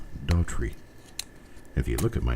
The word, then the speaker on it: Daughtrey: Just about any way you can pronounce the name except just reading it and pronouncing it exactly as it's spelled. Daughtrey.